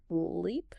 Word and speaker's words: leap: Leap has a long e sound. L e p. Your mouth stretches wide. Leap.